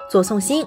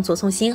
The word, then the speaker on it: 左颂星: 副导演，因为在粤语发音中左宋星音同左宋生，所以我